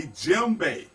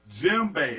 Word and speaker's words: djembe: This is called a djembe. Djembe, and it's spelled with a D.